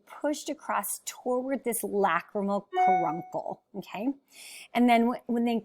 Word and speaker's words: caruncle: it's just funny like it's kind of spelled like car uncle but it's karuncle and so that's just